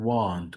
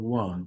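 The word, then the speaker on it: weren't: তারপরে ওই যে আর ওয়ার নট, এটা হচ্ছে ওয়ান্ট, উচ্চারণ হবে ওয়ান্ট।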